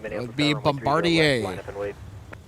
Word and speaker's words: Bombardier: would be runway 30 Bombardier. left, line up and wait. Oh, yeah. You got to remember it's French.